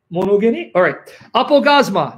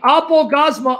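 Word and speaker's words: ἀπαύγασμα: I'm going to pronounce it the Erasmian way. Apogasma.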